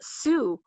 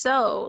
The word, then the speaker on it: sew: and so all they could need was uh Sue oh yeah and he's like I don't understand and I was like Dad that's that's not how you pronounce s e w it's it's so like like that's so Nova right and so